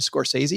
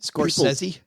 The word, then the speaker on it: Scorsese: known director named Martin Scorsese. Have you guys ever heard of this guy? No. I think you said it wrong. I think Scorsese? Yeah. True film aficionados say Scorsese.